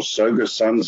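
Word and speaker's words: Tsogo Sun: some branding has fallen away there is still sega sun but all the southern sun hotels or soga suns as we pronounce it is not just going to be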